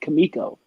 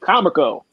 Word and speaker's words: Comico: row home that said Kamiko, COMICO. I actually, when I saw the sign, I pronounced it Comico.